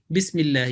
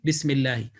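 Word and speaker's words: بسم الله: places they will say okay this will be bismillah not bismillahi but basically the right pronunciation will be bismillahi again you will find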